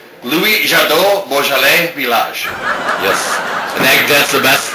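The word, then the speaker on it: Louis Jadot: Louis Jado Bj.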